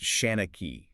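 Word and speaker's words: seanchaí: Sean-chide. Yes. Pronounced Shanachie. It's a Gaelic term for a storyteller, right?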